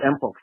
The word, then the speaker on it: mpox: You see, monkeypox, okay, the name is pronounced mpox. It used to be monkeypox, it's mpox.